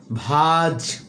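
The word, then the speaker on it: vase: ভেস মানে হচ্ছে ফুলদানি, এর ব্রিটিশ প্রোনাউন্সিয়েশন হচ্ছে ভাজ।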